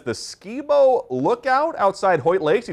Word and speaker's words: Skibo: He says the Skibo Lookout outside Hoyt Lakes. He told me Hunter knows where it is. Yeah, it's actually, I think it's pronounced Skybo.